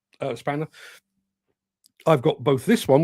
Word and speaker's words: X-Spanner: I know it says X-Spanner, but it's pronounced Spanner.